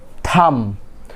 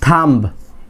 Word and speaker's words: thumb: Next one আগেরটার মতোই থাম, নট থাম্ব। It will be silent, not thumb. Simply thumb. B word is silent.